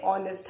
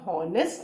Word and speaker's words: honest: Spelling it starts with the consonant H, but sound H का नहीं है, H silent है. वी से ऑनेस्ट. हम हॉनेस्ट नहीं बोलते, हम ऑनेस्ट बोलते हैं. ओ का साउंड है, वावल का साउंड है.